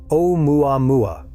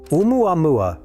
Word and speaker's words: 'Oumuamua: Larry Kimura, named it 'Oumuamua. In Hawaiian, that roughly translates to a messenger from afar arriving first. And that opening character is not an apostrophe. It is an okina, a Hawaiian glottal stop.